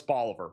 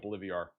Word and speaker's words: Bolivar: I like how Rick corrects me for the pronunciation of Bolivar. I know it's Bolivar, but I like calling it Bolivia.